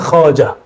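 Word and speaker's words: خواجه: Jadi Khaja itu tulisannya Khawajah, tapi bacanya Khaja.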